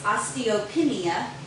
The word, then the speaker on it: osteopenia: is I think is how is it actually pronounced and it's osteopenia and I have been very blessed because I at that point wanted to make sure that I stayed strong.